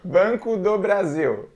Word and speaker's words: Banco do Brasil: Brazil though don't Brazil so try it again Banco do Brasil there we go you got it this is